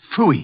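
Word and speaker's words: Pfui: It can be spelled in several ways. I spell it P-F-U-I. Phooey.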